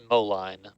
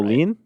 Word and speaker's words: Moline: We also have East Moline. I hope I'm pronouncing that right. Molen. Moline. Molen. You know, tomato. I think it's like the song Molen.